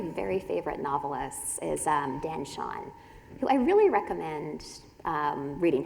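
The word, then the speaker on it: Chaon: One of my very favorite novelists is Dan Shawn, who I really recommend reading his work. That last name is spelt like chaos, but with an N instead of an S.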